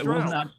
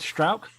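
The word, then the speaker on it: Struijk: There's kind of like halfway between like an ow and an o is how you pronounce that UI.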